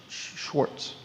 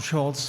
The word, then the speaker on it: Schultz: Schwartz. Schultz. Actually, it's Schultz, Schultz.